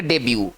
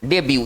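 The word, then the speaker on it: debut: आते हैं इसको पढ़ेंगे देबू देबू इसको पढ़ेंगे देबू इसमें टी साइलेंट होगा ना इसको पढ़ेंगे देबू देखिए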